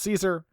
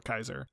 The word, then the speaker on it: Caesar: game though I think outside the legion they usually refer to it as Caesar within the legion they call a Kaiser and the Kaiser's Legion